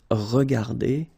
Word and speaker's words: regardées: Remember that we don't pronounce them, so you will get phonetically regarder, and then here the same form, regarder. Okay, so you don't pronounce anything after your e, but still you should write them if you want to write correctly.